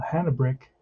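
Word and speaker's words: Hanebrink: do have uh uh hannah brick that's how you pronounce that name they taught me the other day hannah brick he's a lefty he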